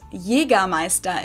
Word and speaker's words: Jägermeister: From shoes to alcohol, this is pronounced Jägermeister in German. Jägermeister. English speakers usually say Jägermeister, which is pretty much the same, just with a pretty thick accent.